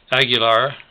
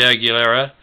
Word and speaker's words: Aguilera: Aguilar, is probably a more correct pronunciation, is the number of students who are hardly learning English. Superintendent Ray Aguilera said we have more than 50% in that category.